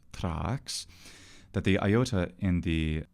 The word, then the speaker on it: Thrax: the clear statement by dionysius thrax who is in fact called Trax that the Iota in